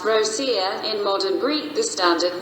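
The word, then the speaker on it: Ρωσία: Rho omega sigma sigma iota alpha Russia, spelled Rho omega sigma iota alpha, Rosia, pronounced Rosia.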